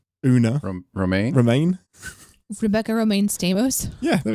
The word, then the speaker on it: Romijn: I will say that I did enjoy, I can never say her name, Rebecca Romijn? Una. Romaine?